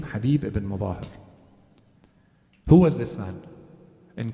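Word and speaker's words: Habib ibn Mazahir: There are versions to his name that are a little different from the popular version. Habib is accepted, but some say his name is Habib ibn Mudahir or Mutahhar. In any case, we'll use the popular way of saying his name, Habib ibn Mudahir.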